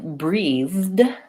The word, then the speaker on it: breathed: teeth and both etc I breathed has the voiced th so the past tense verb has this sound the and that's again